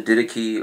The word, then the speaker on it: Didache: For instance, the didache or the didac or didac, it's pronounced, which is an early writing of the church. I pronounce that three different ways.